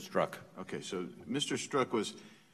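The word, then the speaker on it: Strzok: struck it I wanted to get the pronunciation right where I've heard it about five times different ways today struck is that struck okay so mr.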